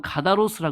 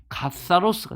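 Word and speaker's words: καθαρός: 카타로스라는 게 이게 가사로스, 이게 번데기 발음 있잖아요. 그러니까 어떤 사람은 카다로스라 그러기도 하고 어떤 사람은 카타로스라 그러는데 사실은 카사로스가 되는 거예요. 이게 여러분 그 서 발음 있잖아요. 그죠? 이제 그 발음이 나오는 거예요.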